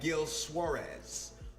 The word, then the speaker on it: Gil Suarez: i want to thank gil suarez did i say it right gil that's right gil suarez for being an amazing